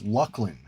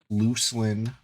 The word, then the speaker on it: Luclin: Unlike the pronunca pronunciation of the expansion after Velus which is of course Lucklin that's a fact that's not an opinion right it's not Luclin it's not what's the